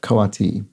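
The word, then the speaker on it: coati: whose name's name is spelled c-o-a-t-i um is pronounced which I think I said koti or something like that full name kawati Mundi koati Mundi um but kawati is how that's pronounced and there were a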